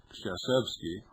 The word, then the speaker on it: Staszewski: Gene Staszewski, or I should say Shasevsky is the proper pronunciation, National Coordinator of the